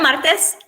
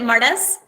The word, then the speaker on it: Martes: It's Martes, and my husband pronounces it Martes. We have different ways of saying it. It means Tuesday in Spanish, and so many times the students do call me Mrs.